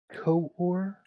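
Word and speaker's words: Quaoar: discovered dwarf planet and I can't pronounce the name of this planet to save my life but I'll try uh let's see co-or I think it's spelled q u a o a r but I do have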